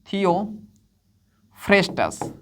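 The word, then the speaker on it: Theophrastus: अब याद रखना ये हिंदी इंग्लिश प्रोनाउंसिएशन में होता है। थियोफ्रेस्टस भी कहते हैं, फास्टस भी कहते हैं। ठीक है? तो ये फ्रेस्टस है। ठीक है? फ है ये। थियो फ्रेस्टस या फिर फ्रास्टस।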